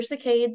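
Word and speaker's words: saccades: and forth the cards or cicades it's kind of pronounced both ways is how you kind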